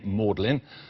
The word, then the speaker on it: Magdalene: Lord odley and indeed the pronunciation of the name mlin appears to have come about as a deliberate reference to his surname the final e on